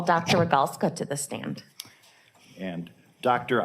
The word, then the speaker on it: Rogalska: record yes good morning my name is rogalska that's spelled a g is in gregory n is